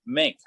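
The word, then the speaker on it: Maenck: be for captain ernest mink m-a-e-n-c-k i have no idea if i was pronouncing that correctly but i'm going to call him mink uh m-a-e-n-c-k he's a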